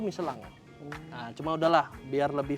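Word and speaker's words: Michelin: pasangkan dengan ban sebenarnya bacanya bukan miselin apa tuh yang benar bacanya tuh yang benar tuh Melang nah cuma udahlah biar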